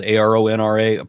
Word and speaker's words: Aron Ra: And I don't know what else to say about that except that, my name is ARONRA, pronounced Aron Ra.